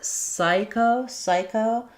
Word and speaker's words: psycho: And then for psycho, the P is silent.